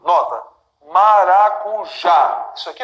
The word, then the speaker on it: maracujá: Sílaba tônica dessas palavras que eu acabei de dividir, né, é sempre a última. Nota. Maracujá. Isso aqui é mais forte. Maracujá.